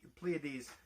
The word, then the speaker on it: Pleiades: there is a little it's spelled almost like palisade but plia the pleiades it's totally different and i'll explain about